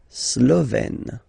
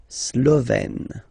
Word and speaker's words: Slovène: Slovène. Remember, E accent grave, you open it. Slovène.